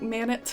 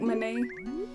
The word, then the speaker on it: Manet: MANET I used to when I was a kid I used to say his name like MANET I think it's pronounced more like my name and so there's our